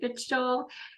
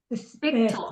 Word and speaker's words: Fichtel: It's a K. Fichtel. CH, yeah, Fichtel. Fichtel.